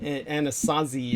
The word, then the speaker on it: Anasazi: the chance to try Anastasi beans, like they're actually better than pinto beans. They're very Yes. good. Yeah, but interestingly enough, it's spelled without the T sound. Anasazi is how it's spelled.